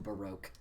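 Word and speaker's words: Barok: supposed to be pronounced he'll be Barrick van Zeeks till the day I die we'll never call him baroque I like to call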